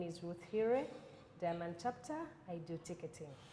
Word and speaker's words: Hiire: My name is Ruth Hiire, Diamond Chapter. I do ticketing. Ruth Hiire. Hiire. Like Hiire. Hiire. Spell it. H-I-I-R-E. H-I-I. Not higher, yes. Not higher. No.